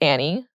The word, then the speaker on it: Annie: sister's name is Annie it's spelled a an and E there's no I so a lot of people say an but she hates that so don't call her an her name's Annie immigrant parents mess up